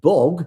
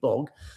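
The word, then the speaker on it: Bhog: These are Akhand Path readings at historic Gurdwaras, starting on the 27th of August, concluding with Bog, that's B-H-O-G, Bog, and the formal Ardas, the prayers, on the morning of the 29th.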